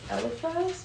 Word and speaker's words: Eliphaz: I'm probably gonna say it wrong, but Eliphaz?